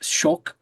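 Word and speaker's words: kök: It's it's it's shul because the the Swedish K is pronounced as like a ch sh.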